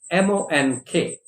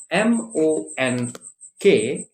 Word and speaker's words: monk: to another word which a lot of us mispronounce it is m-o-n-k m-o-n-k is not monk it is monk okay monk basically it means